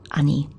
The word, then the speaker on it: 兄: older brother our humble older brother and it's pronounced ani when we want to refer to someone else's